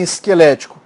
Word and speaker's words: esquelético: Então, ó, essa forma, aqui, ó, esse vé é a sílaba tônica. Olha em esquelético.